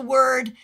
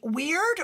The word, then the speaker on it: Wyrd: Tell me, do you pronounce the word WYRD weird or word? I say weird.